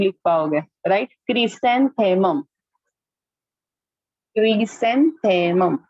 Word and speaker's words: chrysanthemum: And chrysanthemum. Pronunciation करना ही पड़ेगा तो ही आप स्पेलिंग लिख पाओगे, राइट? क्रिसेंथेमम.